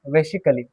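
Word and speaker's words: basically: बेसिकली। देखिए ए silent है, तो जब ए साइलेंट है तो आ का उच्चारण तो होगा ही नहीं, तो हम इसे क्या पढ़ेंगे? बेसिकली।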